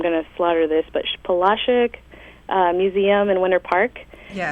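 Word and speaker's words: Polasek: to slaughter this, but Palashik Museum in Winter Park. Yes. I used to say Polisek, but I heard today that I was saying it wrong all along.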